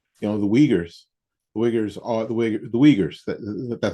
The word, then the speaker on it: Uyghurs: The Uyghurs are the Uyghurs. That's how it's pronounced.